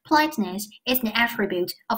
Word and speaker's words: attribute: 如果我要是读成 attribute 动词归因，如果要读成 attribute，那么重音在第一节，它就完